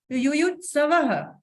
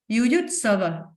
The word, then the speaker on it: युयुत्सवः: धृतराष्ट्रवाच धर्म क्षेत्रे कुरुक्षेत्रे समवेता युयुत्सवः। स व के बाद हम ह प्रोनाउंस कर रहे हैं क्योंकि 2 डॉट है, देखिएगा। युयुत्सवः मामकः, फिर ह प्रोनाउंसिएशन हुआ, पांडवश्चैव किम कुर्वत संजय।